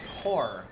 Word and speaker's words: corps: By the way, corpse is pronounced core.